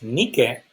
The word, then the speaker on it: Nike: Nike, actually, it is pronounced Nike.